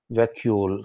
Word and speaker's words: vacuole: Firstly, वैक्यूल, थोड़ा सा इसका अजीब सा वो है प्रोनाउंसिएशन भी, वैक्यूल, वैक्यूल ऐसा करके प्रोनाउंसिएशन इसका।